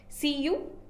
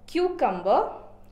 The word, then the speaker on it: cucumber: Did you pronounce the word cucumber or did you pronounce the word cucumber? I have seen a lot of my students pronouncing this word as cucumber, not just my students, but a lot of people around me pronouncing this word as cucumber. But the exact pronunciation is cucumber or cucumber. It can be American pronunciation or British pronunciation, but it is not cucumber. Cucumber is a wrong pronunciation.